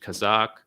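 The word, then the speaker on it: казак: region we're talking about in russian it's pronounced kazakh and it comes from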